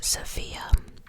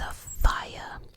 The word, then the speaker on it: Sophia: But yeah, throughout my research, I found out that a lot of people call it the Princess Sophia, but um the proper pronunciation is the Princess Safia.